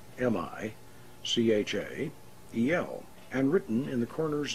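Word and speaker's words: Michael: the angel of power was separated into three syllables mi CH a yell and written in the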